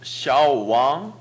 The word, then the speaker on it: 小王: 왕 왕 이것이강조돼야돼요왕 왕 샤왕 샤왕 좋습니다해보십시오 샤오 小王小小 전반성만나고왕이이성을이어가겠죠小王小王 다시한번하십시오 小小王 지금小王이렇게했죠지금보시면小는삼성 왕은이성입니다전반성이성이나옵니다그렇죠그래서합치면삼성이되게되어있습니다수업중에들으셨죠그걸살립니다小王아니고小왕이성조가유지되어야합니다다시해보십시오